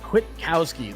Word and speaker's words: Kwitkowsky: I said it real fast and just kind of smashed it all together. But Kwitkowsky, that's how you pronounce that, ladies and gentlemen.